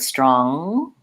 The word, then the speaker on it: strong: back of my tongue it's not an N plus a G sound that would sound like straw good strong good so when you say the word strong you should feel the back of your tongue lifting for one sound so in some ways to think about it you can think it's a silent G but we also don't